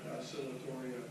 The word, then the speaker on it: Oscillatoria: Yeah, how do you pronounce that? Phanomena? Yeah, cyanobacterial. And what do you call it? Oscillatoria. Oscillatoria.